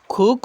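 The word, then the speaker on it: cook: হ্যাঁ, ককে খ হিসেবে উচ্চারণ করবেন, তাহলে বিদেশিদের মতো শোনা যাবে।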